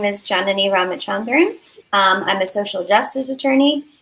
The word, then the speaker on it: Ramachandran: it how do you say your last it's ramachandran ramachandran wrote amazing ramachandran i'm honored